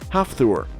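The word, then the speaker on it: Hafþór: those who are curious his first name is pronounced half ther number one Olivier rter out of everyone on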